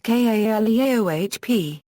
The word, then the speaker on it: Calliope: The pronunciation of the word Calliope has long been disputed. The Greek muse by the same name is pronounced K unregistered trademark Li unregistered trademark P, but the instrument was generally pronounced Kaleohp. A 19th-century magazine, Reader's Mirror, attempted to settle the dispute by publishing this rhyme: "Proud folk stare after me, call me Calliope.